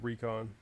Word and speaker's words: Rycon: He pronounces it recon.